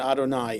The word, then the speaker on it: Adonai: now between Elohim and Adonai. It's based on midrash that we understand that Elohim is the aspect of justice and y vave adoni pronounced adonai is the aspect of mercy.